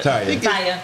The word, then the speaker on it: Taya: Is it pronounced Taya or Tia? That's your Taya. Taya.